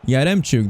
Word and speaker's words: Yaremchuk: It's a good ball into Yaremchuk. That's how you pronounce it.